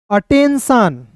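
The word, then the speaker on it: attention: ATTEN अटेन, और TION turn नहीं पढ़ेंगे, सन, अटेंशन, क्या पढ़ेंगे दोस्तों, अटेंशन, अटेंशन, क्लियर है।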